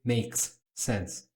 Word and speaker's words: makes sense: Na hora de pronunciar, eu não pronuncio dois ss e nem pauso. Falo it makes sense, falo it makes sense, como se eu sumisse com um desses dois s.